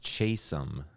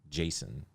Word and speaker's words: Chasom: My name is Chasom, not Jason, or whatever you called me.